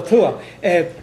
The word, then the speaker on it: Tuath: Oh, Tuath. Well, it's, I mean, now in Ireland it's T, yeah. big Th, Tuath. There's no short T in Irish.